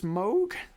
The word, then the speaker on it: Moog: I believe it's Moog. They make the synths. I always called it Moog. Yeah, I did, but apparently it's Moog.